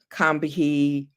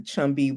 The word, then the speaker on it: Combahee: she actually coordinated the Combahee. Some people pronounce it that way. Some people pronounce it the Chumby River Raid, Umbahi.